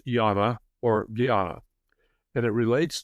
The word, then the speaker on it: jnana: Jnana is spelled either g h a n a or j a m a. The a is not pronounced in Sanskrit, so it's more correctly pronounced jnana or simply yana.